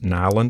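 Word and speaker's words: Nylund: by simon and jacob nyland of nyland knives and you can find them on instagram it's nile in the knives all one word and it's spelled n-y-l-u-n-d knives and the specific one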